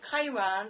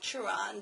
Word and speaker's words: Chiron: a quest for truth the legendary centure Chiron sometimes called churon depending on how you choose to pronounce it is a noble emblem